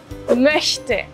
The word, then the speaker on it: möchte: Ich möchte ein Glas Bier. Quiero un vaso de cerveza. Recuerda, la O umlaut se pronuncia formando una O con los labios, pero diciendo E, Ö.